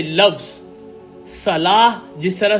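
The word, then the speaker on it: صلاة: इसलिए जो प्रोनाउंसिएशन है उसकी सलाह है।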